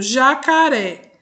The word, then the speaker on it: jacaré: Então, por exemplo, jacaré. Uré é a última sílaba e é a sílaba mais forte da palavra.